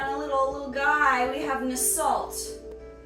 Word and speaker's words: Nasalt: We have Nasalt. Nasalt rhymes with assault, so we know to stay away from him.